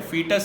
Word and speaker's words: foetus: फीटस ही pronounce करते हैं but spelling है FOETUS।